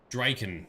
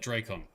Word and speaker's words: Drakon: the time of emperor cordelius dracon draken actually we've learned that he pronounced that drakon sadly the bloodline end